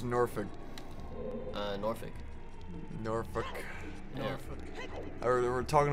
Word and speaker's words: Norfolk: talking about how like people from the north will pronounce it like Norfolk, Yeah. but he kept saying Yankees will pronounce it Norfolk, and I just thought